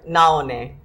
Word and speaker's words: Naone: thank you very much did I pronounce your name right close you used an M instead of an end pronounce it correctly yeah Nala knee and that's Hawaiian and what does that